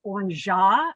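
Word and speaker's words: orgeat: And this is pronounced orangeat, but it is an almond syrup.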